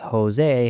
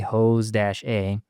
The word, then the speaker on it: José: So I use the technique phonetic spelling for like Asians in general to say it's actually pronounced Jose, Hose-A.